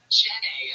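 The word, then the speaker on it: Jennay: Jenny, am I saying that correctly?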